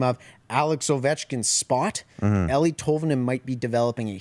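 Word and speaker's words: Eeli: oven i am but is it ellie ellie ellie's how they pronounce it during the broadcast and uh yeah no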